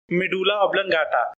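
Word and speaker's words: medulla oblongata: जैसे हम बोलेंगे तो ये हम बोलते हैं मेडुला ऑब्लंगाटा, कोई बोलता है मेडुला ऑब्लंगोटा। तो ये अलग चीज नहीं होता है, ये सेम चीज होता है।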